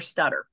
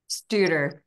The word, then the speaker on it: Studer: So when we finally circle around to, do you pronounce it Studer or Stutter? Studer. Studer. That's what I thought. I just didn't want to pronounce it incorrectly.